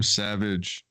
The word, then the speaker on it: Savej: this first of all the name savage spelled like that sav ej is actually a hindu name